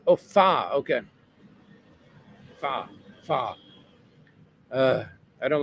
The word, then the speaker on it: pho: Pho is pronounced fa.